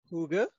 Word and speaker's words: hygge: of this word called hygge all right so hygge this is actually a a word that is difficult to pronounce and very difficult to explain all right it's pronounced as huge so hygge means creating